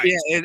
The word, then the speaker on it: Fiennes: Ralph Phineas, his brother, was in attendance. Ralph Phineas is a well-renowned actor. Voldemort from Harry Potter. Oh, Ralph Fiennes. Ralph Fiennes. Yeah, Fiennes. Yeah, that is how you pronounce it.